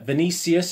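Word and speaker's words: Vinícius: five to one kdb thirteen to two uh vinicius is how you pronounce it he's seven to one mara seven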